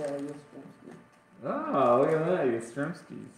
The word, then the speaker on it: Yastrzemski: Oh, look at that, Yastrzemski.